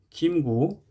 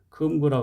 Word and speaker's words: 김구: 금속 무리속자와 합쳐 가지고 세부치의 무리 종류를 말하는 거고 김구 독립운동가였던 사람 이름이라 금구라 하지 않고 김구라고 합니다.